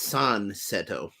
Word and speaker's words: Sun Seto: This mermaid's name is Sun Seto, or in Japanese it's San Seto.